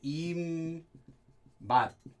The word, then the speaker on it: 입맛: Pronunciation is 입맛. I kind of wrote that weird. Let me rewrite this meme here. 입맛 is how you pronounce it, but 입, mouth, flavor.